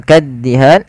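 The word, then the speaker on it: كَالدِّهَانِ: Kemudian lafal kaddihan tekan di huruf da-nya, kaddihan.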